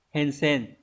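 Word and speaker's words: 変遷: Hensen.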